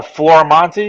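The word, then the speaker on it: Florimonte: on the interwebs just uh type in uh Flora Monty into Google it's f-l-o-r-i-m-o-n-t-e I know it's Tim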